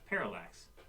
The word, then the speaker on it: parallax: You're missing a syllable there, please. It's parallax.